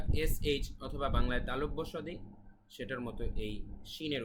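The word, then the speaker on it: صاد: এইচ অথবা বাংলায় তালব্য সদি সেটার মত এই শিনের উচ্চারণ তারপরে রয়েছে সদ এটা শুধুমাত্র আরবিতেই স্বতন্ত্র বাংলায় এটার উচ্চারণ পাওয়া যায় না সদ সদ সদ ঠিক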